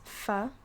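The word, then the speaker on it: ف: And then there's fa, which is just like Friday or food.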